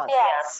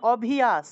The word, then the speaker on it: অভ্যাস: নম্বর অভিয়াস অভ্যাস অভ্যাস অভ্যাস হ্যাঁ অভ্যাস হ্যাঁ এখন অভিস অভিস এরকম এরকম উচ্চারণ করলে হবে না একসাথে অভ্যাস অভ্যাস অভ্যাস